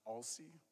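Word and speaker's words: Aulcie: los angeles premiere of a-u-l-c-i-e i think it's pronounced all sea on thursday november 18th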